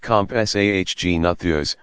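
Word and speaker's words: Compsognathus: the smallest of them may have SOG natha's pronounced comp SAH Gina Thea's which was only about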